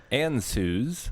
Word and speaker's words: Ann Suze: Ann Suze with 100 bits. My name is pronounced. Oh, should have read this first. Ann Suze. Now these. Rick, you said it wrong in your stream.